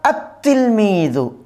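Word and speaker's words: التِّلْمِيذُ: আলিফ লামটা আসবে কিন্তু কি হবে না? উচ্চারণ হবে না।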